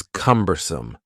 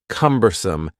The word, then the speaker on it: cumbersome: The next word is cumbersome. The word cumbersome has three syllables and the stress is on the first syllable.